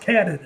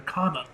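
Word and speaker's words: Kwannon: You know it's pronounced Cannon or Kanan. Like Kana or Cannon, but Japanese. Say it with a Japanese accent.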